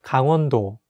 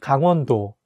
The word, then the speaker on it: 강원도: So when you say the name of this province, make sure to say 강 (gang) 원 (won) 도 (do), not like gangwondo. I can see some foreigners, they say G-A-N-G as “gang”, but in Korean, you have to say 강 (gang) with a strong “a” sound.